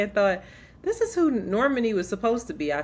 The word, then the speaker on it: Normani: I know I used to say Normani, but Normani. I think that's how you say her name.